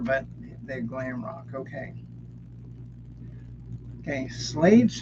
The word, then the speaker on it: Slade: Okay, Slade's third album is called Slade, Slyd, like I've been slayed.